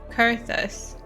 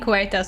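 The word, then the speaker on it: Coerthas: Wait, you were supposed to pronounce it Curtus or something. Co. I've been saying Kuetas all the time, but at some point they said Curtus or something.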